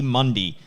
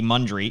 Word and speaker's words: Mundy: Mundy, a name that people probably have not heard too much, so much so that I even got his name wrong on our last podcast, calling him J.D. Mundry.